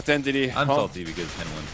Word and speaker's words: N1: I wanted to say Henny. We all wanted to say Henny. It's N1. Apparently, it's N1.